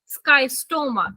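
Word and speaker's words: Schistosoma: फिर आता है स्कीस्टो, एक सेकेंड, स्काइस्टोमा। ठीक है, इसको हम बोलते हैं, कुछ बच्चों को स्पेलिंग समझ नहीं आ रही होगी, रुक जाओ, SCHISCO, स्काई स्टोमा।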